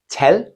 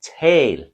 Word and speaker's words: tal: tail speak to speak it's spelled t a l both of them but it's different if you say tell short tell or tail tail so while a might